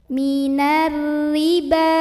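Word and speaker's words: مِنَ الرِّبَا: Ada alif lam syamsiyah karena alif lamnya menghadapi huruf syamsiyah yaitu ra, maka alif lam ini tidak dibaca, dimasukkan langsung ke ra. Minarri. Ada ra yang dibaca secara tarqiq karena ra barisnya di bawah kasroh, maka bacanya tipis, nyantai, ringan, tidak perlu dinaikkan pangkal lidah.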